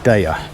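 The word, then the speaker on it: Deye: they're from a company that i'm told is pronounced daya d-e-y-e and like virtually everything in the solar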